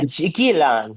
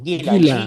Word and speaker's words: Guilan: that you mentioned that you went to, of Guilan, is it pronounced? Yeah, Gilan, Guilan.